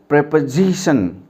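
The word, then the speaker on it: preposition: जैसे ज़्यादातर क्या होता है, टीचर्स या स्टूडेंट्स इसको प्रीपोजिशन बोल देते हैं। That is absolutely wrong प्रोनाउंसिएशन। It's exact और करेक्ट प्रोनाउंसिएशन इज प्रेपोजिशन।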